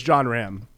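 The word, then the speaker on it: Jon Rahm: joking I know I know actually John it's John Ram John Ram close Ram sure y John Ram it's okay I mispronounced names all the time uh so John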